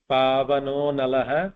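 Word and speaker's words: पवनोऽनलः: Again there is an avagraha there, pavano nalah, analaha, that is the I is consumed there, so there is no separation, that has to be pronounced together. It is always pavano nalah.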